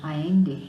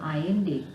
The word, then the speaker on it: Allende: candidature to allow Salvador Allende to be the sole candidate of the Communist Party. So the name is pronounced as Allende, not Allende, it is Allende.